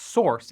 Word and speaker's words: src: SRC, pronounced source, is a common name for the folder that holds uncompiled code in a project.